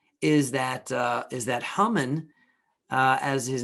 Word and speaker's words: Haman: that uh is that human uh as his name is pronounced sometimes people say haman in english that human who is